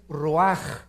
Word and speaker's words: ruach: en hebreo es nepe y la palabra espíritu es raj se escribe ruach entonces vemos aquí dos